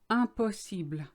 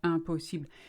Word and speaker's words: impossible: The un, like I said before, I am, IN, it's all the same. It's un. Impossible. All the syllables are on the same height, the same weight, if you like. Impossible. There's no impossible like in English. Impossible. It's very light L on the end.